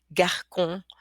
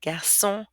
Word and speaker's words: garçon: Okay, that little wiggly thing causes for a k to be pronounced into a s. Okay, without it, this word would be pronounced franquet, garcon, le con, okay, facade, but with it, we have français, garçon, façade, leçon.